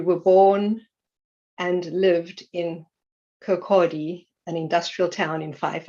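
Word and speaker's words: Kirkcaldy: early life you were born and lived in kokodi an industrial town in phife i hope i'm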